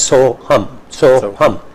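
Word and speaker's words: So'ham: And it's pronounced as so hum, I am that.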